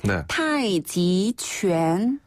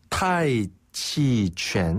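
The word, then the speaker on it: 太极: 그걸 바로 태극권이라고 하는데요 태극인네 중국 식으로는 우리가 어떻게 표현할 수 있냐면 타이지 타이치 한번 더 타이지 타이지네 태극권을 하는 분들도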